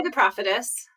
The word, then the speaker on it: Prophetess: The Prophetess is now, I'm putting the accent on the wrong syllable, aren't I? How do you say it? I would say The Prophetess.